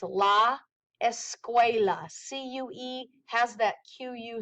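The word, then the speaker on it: la escuela: things plural all right so one school is La esqua again write down the pronunciation because you're going to have to know how to say these um and listen to these words as well so it's La esqua CU has that qu sound esqua multiple schools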